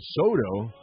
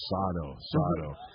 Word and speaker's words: Sato: looking forward to a Soto, like a Juan Soto, right? For Washington. Wow, there's a Soto on, and we had to say, no, it's a Sato. So now we're still working on that first syllable.